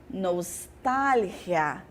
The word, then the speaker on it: nostalgia: tempos antigos né mas no espanhol eu tenho nostálgia nostálgia significa mesma coisa tá bom no português